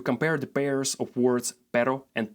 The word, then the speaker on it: pero: Another good exercise is to compare the pairs of words pero and perro, and also caro and carro.